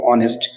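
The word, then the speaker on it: honest: দেখো অন এস এখানে যে ওয়ার্ড রয়েছে দেখো অনেস্ট তাহলে এই যে উচ্চারণ এইচ দ্বারা সত্ত্বেও আবার দেখো আবার এস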